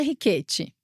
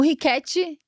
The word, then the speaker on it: Ricchetti: Rquete, na verdade, assim, qual é a pronúncia italiana? Carolina Riquete, essa é a pronúncia. Só que assim, o Ricket ele é mais bonito, né?